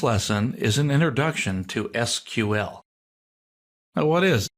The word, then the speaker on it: SQL: This lesson is an introduction to SQL. Now, what is SQL? Well, it's an abbreviation standing for Structured Query Language. It's generally pronounced not SQL, but SQL is the normal way we say it.